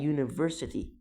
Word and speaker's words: university: he is a university student، لان هنا university صوتها بيبدأ بحرف ساكن، مش بنقول university.